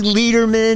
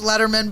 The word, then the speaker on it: Lederman: she's here and our guest today is Annie Lederman that's Letterman but it's okay I'm a natural born leader people Amy Letterman you know what I used to do a